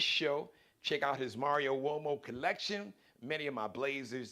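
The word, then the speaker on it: Uomo: are from the Mario wo collection just go to uh it's m a r iio Mario's easy now wo sounds like it's spelled with a wo uh but it's an Italian surname so it's m a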